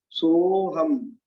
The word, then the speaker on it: सोऽहं: तो सो पढ़ेंगे, सो को थोड़ा सा लंबा खींचना है, इसमें आ का भी उच्चारण हो जाए। सोहम, सोहम, तथापि, तथा अपि,